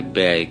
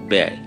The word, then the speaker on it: ব্যয়: আমি আবার বলছি, শব্দের প্রথমে অকারান্ত কিংবা আকারান্ত বর্ণে জ ফলা যুক্ত হলে তার উচ্চারণ অনেকটা একারের মতো হয়ে যায়। যেমন তোমরা এই যে সময় ব্যয় করছ, ব্যয় করছ, বয় নয় ব্যয়, এখানে কেবল বয় জ ফলা।